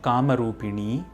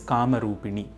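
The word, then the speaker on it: कामरूपिणि: Similarly, it is not Kamarupini, it is Kamarupini.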